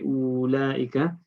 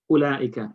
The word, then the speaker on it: أولئك: Now this waw is not pronounced. In pronunciation, you don't say ulaika. You just say ulaika.